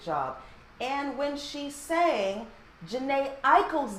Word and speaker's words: Jhené Aiko: Jhené Aiko.